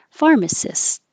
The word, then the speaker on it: pharmacist: there is the pharmacist and cyst yeah sounds like cyst pharmacist refuse if it's a